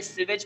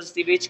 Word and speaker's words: sewage: आज हम पढ़ने वाले सीवेज प्रॉब्लम्स और सीवेज के बारे में। कई लोग सुवेज भी बोलते हैं और ब्रिटिश इंग्लिश में इसका प्रोनाउंसिएशन होता है सीवेज।